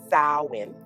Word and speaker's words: Samhain: Samhain, which I know how it looks, but it is pronounced Samhain, originates from ancient Celtic